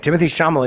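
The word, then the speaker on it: Timothée Chalamet: in Wonka yes how do you you you pronounce his Timothy is Right Timothy shamal is Right Timothy you got his name okay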